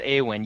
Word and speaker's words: Aywin: but no I mean did I get your name wrong at that it was Aon right well yeah my character name is a win' you keep calling me you'ii not you a